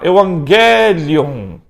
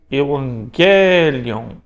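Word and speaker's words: εὐαγγέλιον: Então gama gama, você vai pronunciar NG. Gama kappa, NK. Gama xi, o NXi. E o gama ri, com NRi. Vamos treinar a pronúncia do gama? Olha lá, Evangelion. Evangelion.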